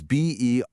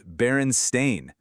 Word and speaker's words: Berenstain: You probably pronounce it and spell it in your head as Berenstein, Berenstein. Nope. Look at the books today. It's Berenstain with an A.